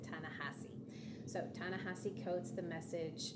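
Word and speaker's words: Ta-Nehisi: this author's name and I think it's tanasi coats I would have pronounced it differently again based on my speaking ability to speak Spanish um but I heard people who I really don't think would mispronounce his name pronounce it tanassi so tanassi codes the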